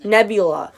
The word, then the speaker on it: Nebula: Yes, Nebula.